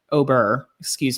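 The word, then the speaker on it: au beurre: The second is Aubert, which is with butter in French. Thank you, everybody. I took 4 years of French. Albert. Just say it like you got peanut butter on the roof of your mouth.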